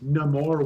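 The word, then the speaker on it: Namor: I I like how the traditional pronunciation of Neymar is just no more with a wakandan accent that's cool um so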